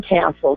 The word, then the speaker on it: Kastl: But I've got to talk about Sean Castle from Castle Insurance. Now it's spelled Kastl, so you won't find him any other way.